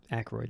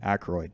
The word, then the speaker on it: Aykroyd: It also has the guy whose name I'm never sure if I'm pronouncing correctly. Mm. Is it Dan Aykroyd Mhm. or Aykroyd? Aykroyd. Aykroyd.